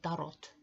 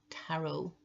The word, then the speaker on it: tarot: Oh, and by the way, when I say tarot, I do know that tarot is pronounced tarot in English, but in Finland we pronounce it tarot, so this is not a mistake.